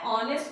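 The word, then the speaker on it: honest: यहाँ पे क्या है, एच बेशक साइलेंट है, इसको पढ़ते क्या है, ऑनेस्ट पढ़ते हैं, बट किसी की ऑनेस्टी यानी ईमानदारी को गिना नहीं जा सकता, इट इज नॉट अकाउंटेबल।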